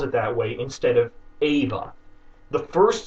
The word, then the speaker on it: Eva: Eve comes from Adam Ava spelled Eva is how Eve's name is pronounced and spelled in most European languages Adam and Eve it's